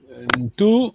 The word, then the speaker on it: ntu: Ntu, ntu, ntu, Into and not human n. body. Can you read ntu, ntu, not n2?